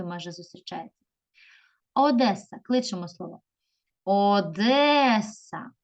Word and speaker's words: Одеса: зустрічається Одеса кличемо слово Одеса Одеса випаде наголос на другий склад молодці дивимося слово назви